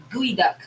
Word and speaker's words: geoduck: Geoduck. Say it like gooey duck.